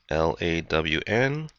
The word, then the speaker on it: ln: notation that's called Ln of X or it's pronounced lwn L A WN and that actually stands for the word natural